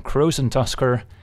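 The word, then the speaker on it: Krosan Tusker: the legendary cave walker rhymes with frozen busker it's none other than crows and Tusker unlike the jump palms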